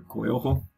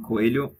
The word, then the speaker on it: Coelho: vs alex the silva coelho or coyojo as you guys would pronounce probably in english so actually this is the the fight that i'm most confident to bet i'm betting coelho even though i'm picking